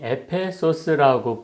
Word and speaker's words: 에베소스: 또 에베소는 원래 발음이 에베소스라고 불리며 현재의 트리키의 셀츠크에 위치한 고대 그리스의 아테네에 의해 교원전 9세계 건립된 식민도시입니다.